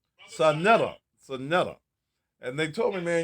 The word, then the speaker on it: Saneta: pronunciation of your name, man. My name is Saneta, brother Saneta. Saneta.